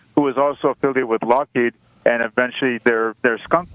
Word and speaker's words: Lockheed: They were pronounced the name actually was used to be pronounced Lockshed as opposed to Lockheed.